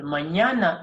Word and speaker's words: mañana: Or think of, if you speak Swahili or you're familiar with Swahili, think of the combination of N and Y, which gives the nya sound, like nyanya, nyumba.